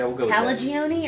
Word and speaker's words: Calagione: sam calgeon calgeon however the hell are you pronouncing this calgeon yeah calagione or calagione it's own not only i heard